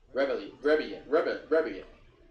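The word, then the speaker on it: Rebillet: Rebele. That's how it's pronounced.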